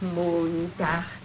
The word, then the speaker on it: Montag: Sonntag, Montag, Dienstag, Mittwoch. That is good, but pronounce the words broader, so Sonntag, Montag, Dienstag, yes?